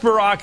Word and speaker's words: Barack: as you point out Joan either you trust Barack or you don't right have I said it